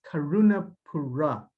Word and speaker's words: Karunapuzha: today first name is last name is karuna Pura uh the zine and the agent that is very misleading it's it's like an R uh and it's actually my last name's karunapura is like a clan name Christians get clan